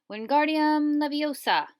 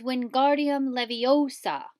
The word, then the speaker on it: Wingardium Leviosa: having much more luck Wingardium Leviosa he shouted waving his arms like a windmill you're saying it wrong how he hurt Hermione step it's Wingardium Leviosa make the GAR nice and long you do it then